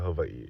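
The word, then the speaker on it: Hawaiʻi: And before you guys come for me for my pronunciation of Hawaii, that is literally how you pronounce it. You guys pronounce it however you want to pronounce it, but I'm going to pronounce it correctly.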